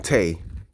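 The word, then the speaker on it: Tae: book of Oahspe is it looks like it's pronounced tie. I mean Tay. Like we just heard in the song Tay's prayer is I believe in the might. But it's actually pronounced tie, right?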